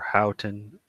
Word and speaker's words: Houghton: over McGuinness by unanimous decision or how or houghton I think I'm on let me get it